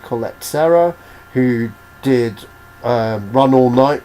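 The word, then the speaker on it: Collet-Serra: This one's directed by I think it's pronounced Jermaine Colette Serra, who did Run All Night with Liam Neeson and Unknown with Liam Neeson.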